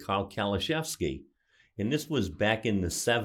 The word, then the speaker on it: Kaliszewski: Our guest, Kaliszewski, is the way we pronounce his name.